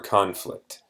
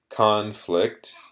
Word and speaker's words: conflict: Students, here's a video for the word conflict or conflict. So this word is actually pronounced differently depending if it's a noun or a verb. So as a noun, it is conflict, and that's what we see a lot.